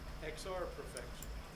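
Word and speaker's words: XRprofXL: capital xr lowercase prof capital xl and it's pronounced xr perfection it's really good it is i was so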